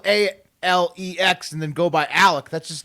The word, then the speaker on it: Alex: South Carolina for over 100 years, whose name is spelled Alex, A-L-E-X. Apparently, he goes by Alec or Alec.